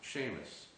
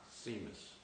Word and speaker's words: Seamus: license to my face Sheamus McCree is pronounced Sheamus not seus now you say it